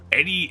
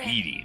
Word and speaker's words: Edie: Spirit of Eddie Engrim. The spirit of a woman locks her gaze on the lone wolf sentry. Say my name, you son of a sow! Edie Engrim! Oh, Edie, not Eddie.